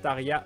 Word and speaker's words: Tarja: au niveau de Tarja ça se prononce Taria en finois ah je ne savais